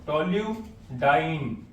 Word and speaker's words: toluidine: और टॉल्यू का TOLU, टॉल्यूडाइन, टॉल्यूडाइन, ई नहीं बनेगा, टॉल्यूडाइन।